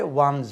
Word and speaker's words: one's: तो इस जगह पे one's होता है. तो वोकैबुलरी one एक, once एक बार या एक दफ़ा, ONES once plural of one, वो one's है, pronunciation Z से ख़त्म होता है, और one apostrophe yes is one's.